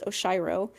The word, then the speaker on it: Oshiro: I I read an article about how to pronounce his name. Um, it's Oshiro and um he they there was an article